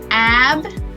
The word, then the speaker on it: Abinanti: Abinanti.